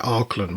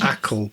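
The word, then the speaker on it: Acle: We kept pronouncing it Arkland, was told off, but it's Ackle Bridge Ackle.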